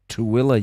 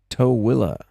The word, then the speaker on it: Tooele: You know, I've heard most of this stuff that was at S4 has moved to Tooele, Utah. Tooele. I think that's spelled something like Tool, like Tuelle.